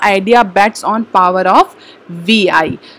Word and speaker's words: Vi: Voda Idea bets on power of VI। तो in a rebranding exercise the Vodafone Idea on Monday rolled out its unified identity that is VI, that pronounced as V।